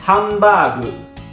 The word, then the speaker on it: ハンバーグ: Hamburger alla pronuncia giapponese si dice hambagu.